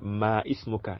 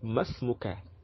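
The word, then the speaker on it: ما اسمك: So some of you that is speaking that ma ismuka, it is wrong. In the Arabic pronunciation, it's supposed to be masmuka and not ma ismuka.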